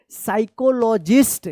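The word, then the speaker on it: psychologist: क्या पढ़ेंगे क्या पढ़ेंगे पी एस वाई सी एच ओ एस एल ओ जी आई एस टी क्या पढ़ेंगे? ये पी साइलेंट वाला है। साइकोलॉजिस्ट क्या पढ़ेंगे?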